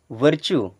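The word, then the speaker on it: virtue: हो गया ट्रू glue वर्चू क्या पढ़ेंगे वर्चू जब भी यू और ई एक साथ में है तो उनका उच्चारण हमेशा आप बड़ा उ की मात्रा की तरह करेंगे बच्चों अगर यह वीडियो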